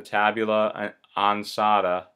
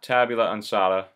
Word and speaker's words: Tabula Ansata: That book is called the Tabula Ansata. It's spelled T-A-B-U-L-A, Ansata, A-N-S-A-T-A.